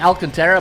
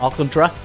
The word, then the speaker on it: Alcantara: and they got a good Ace with Sandy Alcantara and or alcantra depending on you it looks like Alcantara but uh it's pronounced Auckland truck Jesus lozardo b-plus Trevor Rogers another pitcher who's